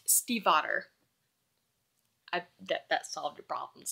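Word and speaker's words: Stiefvater: Maggie my brother has a friend with this last name who was actually German so it's pronounced Steve otter I bet that solved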